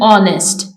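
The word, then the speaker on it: honest: में के साइलेंट है एच इन ऑनेस्ट ऑनेस्ट में एच साइलेंट है वी पुट आर्टिकल्स ए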